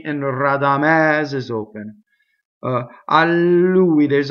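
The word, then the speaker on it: Radamès: The conjunction is a strong monosyllable, makes a double. Rradamɛs. The final E in Rradamɛs is open.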